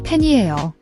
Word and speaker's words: 팬이에요: Watch your pronunciation, the A vowel in, pain. It's pronounced like the in cat or apple, not pen or pan. Make sure your mouth is open wide enough.